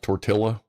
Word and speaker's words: tortilla: It's pronounced tortilla.